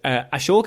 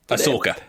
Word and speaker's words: Ahsoka: Ashoka, is that how you pronounce it? Ahsoka. Ahsoka, I do apologize, and of Diego Luna's